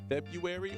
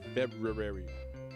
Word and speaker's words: February: It's always spelled February, but nobody says that. It's February.